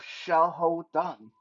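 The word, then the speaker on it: Xiahou Dun: by the name of Xiao Dan in proper Mandarin pronunciation uh who got shot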